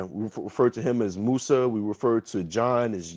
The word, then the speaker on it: Musa: Musa. Hmm. Yeah, we refer to him as Musa.